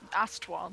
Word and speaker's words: Ostwald: Ostwald. Ostwald. That's not how it's spelled on the map, O-S- yo.